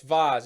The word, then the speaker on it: Vase: how do you pronounce it what the fa vaz trophy is it the vase or the vaz who calls it a bears a vat do you see a visa this is an argument i'm having jack it's vaz is it not yes thank you okay okay